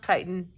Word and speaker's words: chitin: It's pronounced chitin.